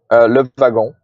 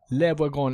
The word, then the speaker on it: Le Wagon: code at a co-working space called Beta I, doing a development course called, how do you pronounce it Good. in French? Le Wagon. Le Wagon.